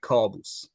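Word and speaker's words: Kaboos: Is it caboose? It's in Persian we pronounce it like Kaaboos.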